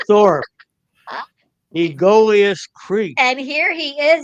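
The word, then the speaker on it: Aegolius: It took all week for me to pronounce that word. It looks like Egolius, but it's Egolius.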